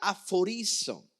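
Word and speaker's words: ἀφορίζω: La palabra apartado, obviamente lo clasificamos como santo, es apartado, pero santo o apartado tiene que ver con una palabra griega que se pronuncia aforizo.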